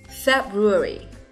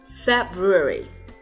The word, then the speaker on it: February: Tháng thứ hai, trọng âm cũng nhấn vào vị trí đầu tiên nhé. February. February. February.